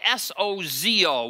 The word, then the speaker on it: sozo: in the new testament it's spelled s-o-z-o we would say if it was bozo the clown we'd say bozo or sozo but the greek word